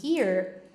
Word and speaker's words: hear: Oh, and by the way, a pronúncia desse hear, também já falei com ele desse aqui outras vezes com vocês. A pronúncia dele é a mesma coisa de here, de aqui.